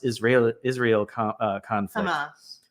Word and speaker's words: Hamas: and more recently the hamus Israel Israel conflict Hamas Hamas yeah um not hummus hummus the hummus the Israeli